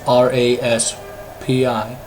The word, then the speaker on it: Raspi: That's R-A-S-P-I, Raspi. Sorry, my Colorado accent makes me pronounce the P as a B.